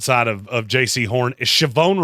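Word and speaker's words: Shavon: of of JC horn shobon Ravel saone Revel uh by draft day I will figure out that the H is silent he is a better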